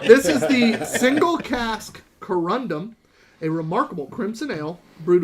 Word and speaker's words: Corundum: I feel like your pronunciation of this name presents a bit of a conundrum. It's Corundum. Indeed. I said what I said. I know, but I said it. Corundum.